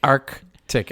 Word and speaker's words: Arctic: the c so you the key on this one is to pronounce that first c it's arc yeah tick and with and same